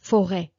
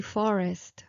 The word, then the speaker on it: forêt: Forêt, forêt, forêt. It used to be forest, forest, okay, but they did not want to keep that S, so it began forêt without pronunciation, without pronouncing the S, and then eventually they dropped the S